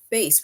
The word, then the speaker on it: bass: this word base right base which is b a s this word rhymes with case when you say the